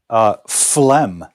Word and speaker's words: phlegm: But look how it's spelled. Phlegm, phlegm. Even if you, pronouncing it phlegm sounds a little more elegant. Oh, just a touch of phlegm. Sounds a little more elegant. But the spelling is just horrible.